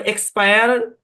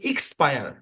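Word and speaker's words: expire: একটা ব্যাপার বলি শোনেন এটাকে আমরা সময় এক্সপায়ার এভাবেই উচ্চারণ করি কিন্তু অরজিনালি এটার উচ্চারণ কিন্তু ইক্স ফায়ার ইক্স হ্যাঁ ইক্স অরজিনালি ইক্স কিন্তু আমরা ব্যবহার করি এক্স সূত্রটা জেনে রাখেন আর যেটা প্রচলন আছে সেটাও বলতে পারেন সমস্যা নাই একটা ভাষার মূল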